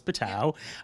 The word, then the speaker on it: PTTOW: So it is PTTOW.